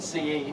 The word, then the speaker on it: RISC CE: The Ident RISC CE, which only one pronounced CE, not C.